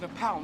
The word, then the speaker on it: Nepal: found out it was Nepal not the cuz it's not na AU well P not the name Paul it's p like your pal so they pronounce it